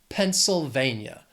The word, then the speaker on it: Pennsylvania: It has 4 syllables, stress is on that third syllable. Pennsylvania. Pennsylvania.